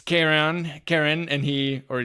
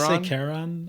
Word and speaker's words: Charon: How do you say his name? Charon? I say Charon, I think. Me too, Charon. But I kind of said Karen a little bit because of my accent.